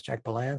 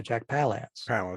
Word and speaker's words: Jack Palance: hyde with jack palance i don't know if jack belance's name is jack belan so jack palance yeah i've been this